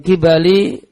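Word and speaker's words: قِبَل: Maka iblis datang min kibali wajhihi, itu bacanya kibal, dari arah wajahnya Ayub.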